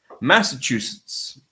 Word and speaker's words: Massachusetts: Massachusetts is actually not so strange. It's just long. So the sounds that you see, rather, you pronounce the word according to what you see. There isn't really any rule that changes the sound of the name Massachusetts, right?